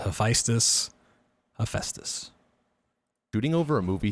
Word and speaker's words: Hephaestus: item boost by shooting hey he pronounced hephaestus correctly hephaestus is a level that uh if you show that word to anyone you're gonna get different pronunciations of it took me a long time to figure it out um having to listen to many people i think i i